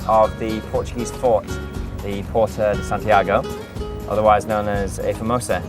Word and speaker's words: Porta de Santiago: And we speak Portuguese, so we would say Porta de Santiago.